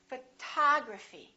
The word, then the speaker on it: photography: how about this one we stress the second syllable we say photography this o also is